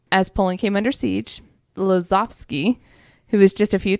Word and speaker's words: Lazowski: Lazowski, because they're W's or V's, right?